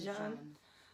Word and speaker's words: Jean: lawyers from the Botham, is it John? It's Botham John. Yeah. I don't want to say his name wrong.